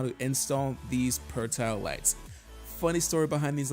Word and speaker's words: Pertile: In the first video we made of these lights, we said his name wrong. We said Pertile, and he said, hey guys, it's Pertile.